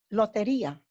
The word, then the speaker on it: lotería: Lotería.